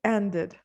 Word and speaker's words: ended: Okay, what about end plus ed, ended.